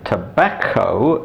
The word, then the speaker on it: tobacco: But the double C in tobacco is hard because the second C is followed by an O.